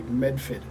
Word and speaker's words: Medford: If you're from Medford, you say Medfit. Medfit. But if you're not, everyone makes fun of it and says Metha.